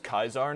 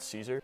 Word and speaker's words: Caesar: Actually, it's pronounced Kaisar, not Caesar. How do we know that Romans originally always pronounced the letter C as a K sound?